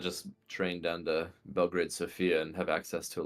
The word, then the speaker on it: Sofia: It is in fact Sofia, according to the Wikipedia pronunciation guide.